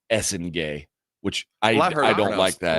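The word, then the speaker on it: Essengue: I thought there were some prizes, namely Igor Demin going 8th, Cedric Howard going 11, Noah I thought it was Esenge. It's Essengay.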